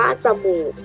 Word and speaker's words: จมูก: ทำ ต่อ ไป นะ คะ จมูก อ่าน ว่า จมูก เด็ก ๆ สังเกต คำ นะ คะ คำ ว่า